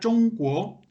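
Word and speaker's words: 中国: En primer lugar, bueno, se pronuncia Zhongguo.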